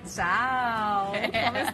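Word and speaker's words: ciao: Que tem aquela cantadinha no final, né? Tchau. Não é o nosso tchau, tchau. Tchau. É tchau, entendeu? É, tem todo esse charme. Brasileiro fala tchau, italiano tchau.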